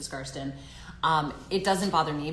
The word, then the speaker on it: Skarsten: James please forgive me people mispronounce my name all the time I get like Gaston Kirsten something like that's not even related to scarston um it doesn't bother